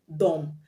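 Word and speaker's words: dumb: climb the words um dom d-u-m-b the b is silent as i pronounced it dom the word bomb the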